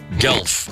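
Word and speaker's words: Guelph: seen this gu u e l p g gelf I don't know how you say it g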